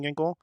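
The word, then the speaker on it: Ginkel: Diamondbacks, and they said his name starts with a K and rhymes with Tinkle. And ever since then, it has completely skewed my perspective on Kevin Ginkle.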